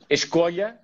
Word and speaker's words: Escolha: So I'm going to let you pronounce this one and introduce it for us. It's Escolha, Escolha.